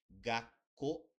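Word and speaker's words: がっこう: veremos mais para frente, como escola, que se escreve gakko, e como tem dois K, você tem uma pausa.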